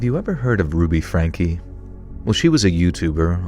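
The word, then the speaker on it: Franke: Ruby Frank. Ruby. Is it Ruby Frank or Ruby Frankie? Venom. Venom. Franka. Frankie. That's pronounced Frankie.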